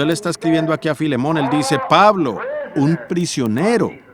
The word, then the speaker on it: Filemón: la falta de educación así que filemón dijo alguien allá atrás lo cual creo que es la pronunciación correcta para el primer versículo